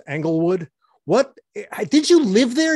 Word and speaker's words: Englewood: starts with an angle it's not angle wood it's englewood angle wood angle wood engelwood yes that's the first time you've said it right what is it i